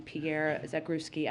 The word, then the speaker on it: Pierre Zakrzewski: I also just wanted to note the news that we heard from the CEO of Fox this morning that cameraman Pierre Zakrzewski, I just want to pronounce his name the right way.